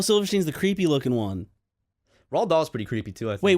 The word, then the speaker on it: Roald Dahl: Rahl doll books how you say his name Roald Dahl Roald Dahl yeah oh yeah although he wrote